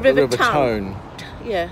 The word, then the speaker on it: Tone: The river, well, it's spelled the River Tone. Yeah. T-O-N-E. I expect locals call it the River Tone. As in Taunton. As in the town on the Tone. Town on the Taunton.